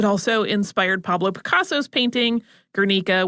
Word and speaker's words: Guernica: It also inspired Pablo Picasso's painting, Guernica, which you'll also often hear pronounced Guernica, which is how I learned it from an art teacher.